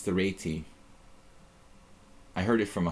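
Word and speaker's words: Réti: cool you tell people that it's not the reti it's the RTI I heard it from a Hungarian um that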